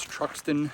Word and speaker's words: Truxton: Uh, and Truckton is spelled TR R U X T O N if you're ever passing through or ever interested to come here. Again, that's Truxton, New York.